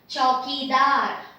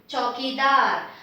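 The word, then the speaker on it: चौकीदार: Chaukidar, long, long, long, short. Chaukidar.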